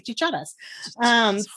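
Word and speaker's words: chicharra: My husband is from Virginia, so he'll say cicadas, but in Spanish we say chicharas.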